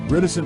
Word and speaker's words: reticent: Reticent rhymes with silent.